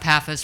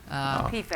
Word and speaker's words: PFAS: Concern about PAFAs, forever chemicals. PFAS. Coming from, yeah, PFAS. Sure, Sorry, Okay, I'm saying it PFAS. wrong. I was Yeah. confused as well. Sorry, I was saying it wrong.